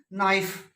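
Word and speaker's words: knife: फिर है बेटा साइलेंट के, ये जानते हो आप, नाइफ देखो के लेटर है, नो के लेटर है,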